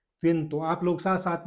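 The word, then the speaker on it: vento: उसके बाद में वी ई से वी ई N plus T O, when plus तो, वेन तो।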